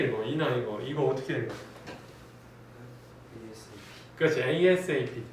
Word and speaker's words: ASAP: 그렇지, ASAP 또는 ASAP 이렇게 읽으면 되고 누가 아삽이라고 하는데 아삽은 아니에요. ASAP라고 읽으시고 위에 보자.